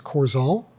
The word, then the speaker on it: Qourzal: it right yes uh last name is coral okay Q RZ L